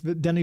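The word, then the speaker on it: Denis: He's French, but it's Dennis, but he doesn't say it like that. Well, I know he says Denny.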